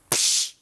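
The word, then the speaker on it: Pssh: Now, how do you pronounce this word? Two parts. You have the P sound. So everybody, if you can just clench your teeth and just go P, P, P, P, P.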